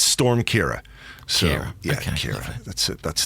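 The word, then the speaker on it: Ciara: so confused to speak in England people are pronouncing that name about five different ways I've heard Kira Chiara Sierra Sierra and others well we go with Kira yeah well that's how you pronounce it it's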